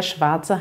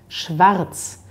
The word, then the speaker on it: Schwarz: man in deutschland ist in bayern und anderen südlichen regionen da betont man dass er ein bisschen stärker da hat man vielleicht sowas wie schwarz oder vielleicht auch im rheinland in der gegend von köln betont man dieses er sehr stark in anderen regionen hört man das vielleicht kaum da hat man so etwas wie schwarz schwarz also neben langes a